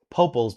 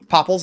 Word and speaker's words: Popples: You said my name wrong again. Wait, what? Popals? Is it Popples? Popples. Is that how I say it?